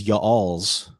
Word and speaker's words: y'all's: What is y'all's? That's not how you still a pronounce that. two-syllable word.